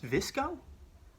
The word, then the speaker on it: VSCO: what is that what does that mean what's visco like VI know the eye is silent disco so it's the Instagram and it's